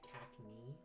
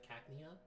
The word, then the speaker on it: Cacnea: the longest time I kept mispronouncing his name is CAC instead of Cacnea so yeah t turn's